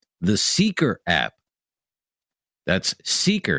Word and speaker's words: Seekr: That's Seeker. It's spelled Seekr.